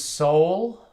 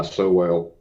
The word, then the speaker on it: Sowell: How do you pronounce it? I just go by Sowell.